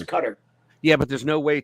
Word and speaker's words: Qatar: Qatar or however else you pronounce it. I think it's Qatar. Yeah, but there's no way to actually. It is Qatar, but there's no actual way for us to